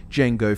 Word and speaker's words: Django: of course but I named mine jeno fet but with a silent D with a little nod